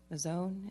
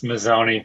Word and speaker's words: Mazzoni: And I have Mazzone. Is that how you say it? It's Mazzoni. It's Mazzoni, okay.